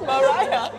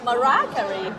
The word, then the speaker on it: Mariah: Maria car mar mar it's Mariah Mariah marah oh this is news for you I always pronounce her name as marer and no one ever